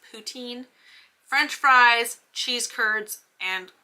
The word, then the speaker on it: poutine: classic poutine, which is, if you don't say it like with the French little thing on it, it's poutine.